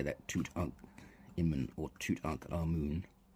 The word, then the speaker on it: ankh: Here, this one's pronounced differently a lot. Some people just say ha, but you see this symbol in the word ankh, which ends k, ankh.